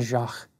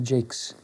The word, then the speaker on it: Jaques: Then here at the end, you get introduced to this beautiful character in church history, Vienna Jacques, or Vienna Jakes, however you prefer to pronounce her name.